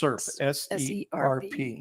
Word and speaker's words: SERP: and what's his specialty serp serp that is not a male pronunciation of the word syrup it's it's serp yeah yeah so we're